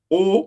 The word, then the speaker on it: au: Donc, je vais au marché. Je vais au marché. Je vais au marché. O is spelled A-U. O. Yeah. Je vais au marché. Je vais au marché.